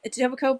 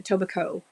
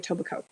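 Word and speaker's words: Etobicoke: your mother-in-law lives in toac Coke my mother um when she got married she was living in a tobaco um we don't say the coke part A tobico it's more like a tobico um she lived at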